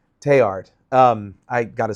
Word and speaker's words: Teilhard: And for those who don't know, Teilhard, Desjardins, I joked earlier that The L. the L, don't pronounce the L in French. Teilhard.